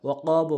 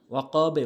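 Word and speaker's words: وَقَبَ: এখন কিন্তু আবার ওয়াকাবও বলতে পারবেন না, ওয়াকাবে বলতে হবে, ওয়াকাবে, বুঝতে পেরেছেন।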